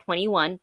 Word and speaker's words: 2NE1: She started with also a 4-person girl group called 21. 2NE1 is how it's spelled.